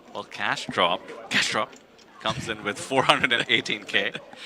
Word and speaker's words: CashDrop: Defending King nine suited from the small blind going to be up against CashDrops Ace King in plus one.